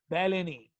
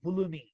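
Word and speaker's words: Bellini: या बेटा अगर आप दूसरी भाषा में लोगे, कुछ लोग इसको कहते हैं डक्ट्स ऑफ बुलनी, मगर बेटा अगर आप इटैलिक प्रोनाउंसिएशन में जाएंगे, क्योंकि इटालियन साइंटिस्ट था, तो हम कहेंगे बेलेनी।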